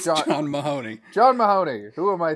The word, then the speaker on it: John Mahoney: the you did do is it not john john maroney no it's not it's john mahoney john mahoney who am